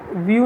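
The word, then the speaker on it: view: तो यहाँ आपको करना है, देखिए ये इसने गलत कर रखा है, अ व्यू, व्यू नहीं है ये, व्यू इसने पढ़ा होगा क्योंकि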